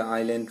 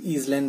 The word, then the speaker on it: island: Okay, the island region. Etu island boli nokoy ha, etu island boli koy. S to silent thake. Okay, the S is silent in this word.